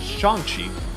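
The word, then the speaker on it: Shang-Chi: good support for shanxi also i might end up mispronouncing this apparently it is shanxi so make sure i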